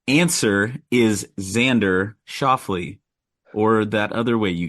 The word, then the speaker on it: Xander Schauffele: The correct answer is Xander Schauffele, or that other way you guys pronounced it.